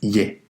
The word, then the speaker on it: 의: Uy significa de y se refiere al posesivo, a la propiedad de algo. Aunque su pronunciación es uy, muchas veces escucharéis pero por lo general se pronuncia como ye.